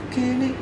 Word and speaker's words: Keane: Nah, gua dengerinnya The Strokes sama Keane apa ya bacanya? Ke apa ya? Kin. Kin Kin.